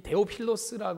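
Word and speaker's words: Θεόφιλος: 어이 데오빌로 이게 아이 헬라어로 읽어보면 데오 힐로스 아이 데오 필로스 발음을 하는 거 데오스 하나님이란 뜻과 아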